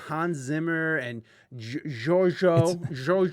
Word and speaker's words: Giorgio: It's Italian, and let me see. Giorgio, not Giorgio. Well, he went by Giorgio. Really? Like a super soft G?